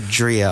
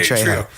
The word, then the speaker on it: Trejo: Did I say his name wrong? You said Drio. I was like, who is this guy? Yeah. Danny Trejo.